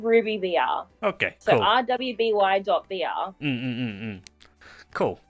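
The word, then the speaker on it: RWBY VR: It's just called Ruby VR.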